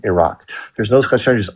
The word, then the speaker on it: Iraq: a friend named Ron, and Iraq, like ear. Someone threw a rock at your ear. Iran, Iraq, there's no such as Iran or Iraq.